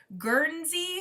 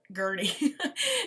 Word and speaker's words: Guernsey: And next up is one that was recently made into a movie, and that is the Guernsey, I believe. I never say it right. I always call it Gurney.